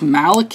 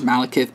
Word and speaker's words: Malekith: up here we have I think it's Malik if it could be mount kiss I don't know by the spelling it's kind of weird but the normal like pronunciation is Malekith but you don't know with comic book characters stuff here and so